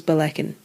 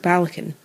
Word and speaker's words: Ballechin: you couldn't pronounce it I looked it up and I was informed it was belecken what's blackened with you huh or is it balakin how do they say